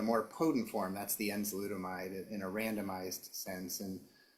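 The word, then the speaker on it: enzalutamide: Armstrong, I know that you were involved in a study of a treatment using a combination, I'm going to mispronounce this, of enzolutamide with androgen deprivation therapy.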